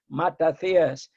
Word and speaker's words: Matathias: And my father, may rest in peace, will well just to think that there are people who pronounce the name properly, Matathias, because in Greek there is no I.